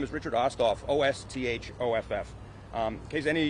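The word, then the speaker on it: Osthoff: from Rich now say your full name and spell it okay hey guys my name is Richard oskoff o-s-t-h-o-f-f um case any of you don't know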